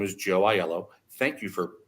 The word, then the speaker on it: Aiello: when someone says hello my name is Joe iello thank you for pronouncing it correctly by the way Rebecca and